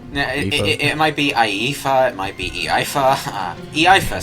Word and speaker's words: Iifa: Because I played Final Fantasy VII, that was Tifa, this is an I instead. It might be Iifa, it might be Iifa.